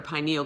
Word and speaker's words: pineal: the endocrine system is the pineal gland or pineal gland here's that pronounced both same a little gland regardless of how you pronounce it so it's located in